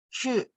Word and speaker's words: 去: 去 Ya, bukan cu, tapi 去。去 Iya, ya, 去. Ya, udah benar, Bu. Ya, kopasnya bagus ya. Oke, lanjut. 我想去中国， Oke, 去.